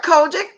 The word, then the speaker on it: COGIC: you've grown up tough customer I don't know pronounce it right what like kojic - yeah they are yeah they're kojic I'm gonna call the Church of God in